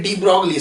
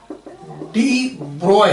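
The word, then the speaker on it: de Broglie: जैसे इसको आप लोग पढ़ते हैं डी ब्रॉगली, साइंटिस्ट का नाम है, लेकिन इसका करेक्ट जो प्रोनाउंसिएशन है, करेक्ट प्रोनाउंसिएशन इसका डी ब्रॉय है, BROY, डी ब्रॉय।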